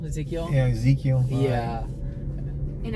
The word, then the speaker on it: Ezekiel: It's Ezekiel, Yeah. so it's just like spelled like the Hispanic version Okay, of okay. like the biblical Ezekiel.